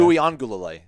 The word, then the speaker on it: Uiagalelei: Just the last thing about DJ Uiagalelei. Nailed it. Okay. Uiagalelei.